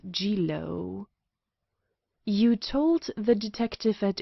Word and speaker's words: Jiro: My proper name is Numagawa Jiro," which he pronounced Jilo.